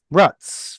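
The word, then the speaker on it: רץ: I'm so used to saying the Z sound that I keep saying it, but I know it's Russ. Ratz.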